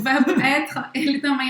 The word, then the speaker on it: être: Então o verbo être, presta atenção nesta pronúncia. A gente não pronuncia o E no final, tá? Être. Être acaba no R.